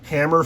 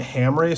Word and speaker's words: Hamre: grips from Hamry Forge I've been saying Hammer Forge this whole time but just the other day I heard him talk on a video and they pronounced it Hamry so I apologize I've